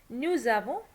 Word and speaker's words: nous avons: nous, vous, ils, elles is pronounced as an English z in the phrase nous avons, vous avez, ils ont, elles ont.